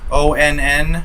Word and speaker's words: ONN: I hope it actually works because that brand, ONN, I think it's pronounced on. It's a stupid way to spell on.